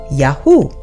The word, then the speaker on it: Yahu: So, if you're following me, the first three letters of the Creator's name are YHU, pronounced Yahu, with the first three